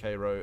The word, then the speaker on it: Cairo: um it's spelled it's spelled the same as Cairo but they pronounce it Cairo in um I can't remember what state it